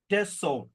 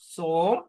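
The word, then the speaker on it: צום: അവിടെയാണ് ടെസോം, TSOME, ടെസോം. സോം എന്നും പറയാം, ടെസോം എന്നും പറയാം. ഞാൻ താഴെ ചാറ്റിൽ എഴുതാം.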